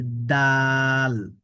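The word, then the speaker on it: دال: এই হরফটির নাম হচ্ছে দাল। এই দাল অক্ষরটি উচ্চারণ হবে কিভাবে? জিবার আগাটা আমাদের সামনের উপরের দুই দাঁতের গোড়ার সাথে লাগবে। লেগে দাল অক্ষরটা উচ্চারণ হবে।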